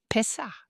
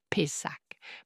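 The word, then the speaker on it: פסח: En hébreu, ils le prononcent kast. Pessah. Ils avalent un peu le fin du mot. Et ça, c'est... Mais vous entendrez des Anglais qui le prononcent Pessah.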